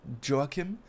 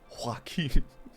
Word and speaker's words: Joachim: It is Joachim if you want to go with a Nordic accent, but you can say Joachim, but it is definitely not Joachim. That's a whole other name, man.